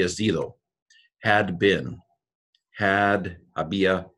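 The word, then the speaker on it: había: zero had been had a BIA a BIA see though and the H is not pronounced I realized as I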